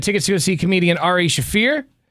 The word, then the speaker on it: Ari Shaffir: see comedian Ari shaffir did I say it right yeah yeah that was incredible because now we've said it wrong a few times or I'm confused it's Ary schaer that's how you said it yeah and then